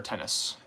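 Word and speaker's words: Ctenus: they're pretty far north remove arachnids are they tennis species yes they are tennis and it's c-t-e-n-u-s the sea is silent which is weird um Latin is weird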